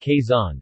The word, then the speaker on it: Quezon: you case on city Kaizen Filipino lungsod case on Tagalog pronunciation blue sod case on Spanish ciudad case